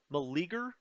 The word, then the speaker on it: Meleager: So good to remember as Malager takes over. I'm going to call him Meleager. Meleager. Let's call him Meleager the New. Well, they already named him the New, but now I'm pronouncing it Meleager.